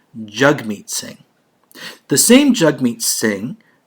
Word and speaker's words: Jagmeet Singh: he did say that he his name is pronounced jagmeet singh the same jug meets singh that pronounces the